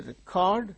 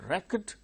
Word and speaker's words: record: verb when we say record the second syllable gain stress when we say record as noun the first syllable gains stress present present the